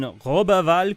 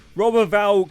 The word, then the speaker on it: Roberval: 49 I think that's 49 uh born in robal Quebec you have to pronounce it like that otherwise the Quebec Quebec get very upset with you if I'm get pronounce that in English it's robal or robal roberval Quebec it's just triggered a load of French